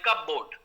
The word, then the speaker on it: cupboard: you another example like cupboard cupboard cupboard something exactly so so you don't say p you say cupboard cupboard yeah yeah so